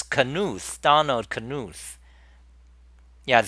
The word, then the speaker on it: Knuth: So it's Knuth. Donald Knuth. Yeah. So there is a K. A audible K there.